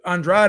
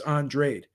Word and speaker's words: Andrade: viridian and uh because because andrade is how you would pronounce it if spanish but he's cape verdean so it's andrade gosh and i remember